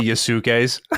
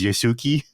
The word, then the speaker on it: Yasuke: Unlike I hear so many Yasukes. Yeah, well, Yasuke is fine, but it's really bad when Colin goes Yasuki.